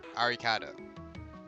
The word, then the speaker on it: Arikado: When the Japanese say Alucard, that is how they say it. That is a phonetic translation of it. Arikado.